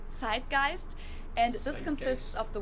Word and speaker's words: Zeitgeist: In German we pronounce it Zeitgeist, and this consists of the word Zeit, which means time, and Geist, which means spirit.